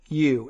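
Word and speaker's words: Chișinău: It's Chisinau.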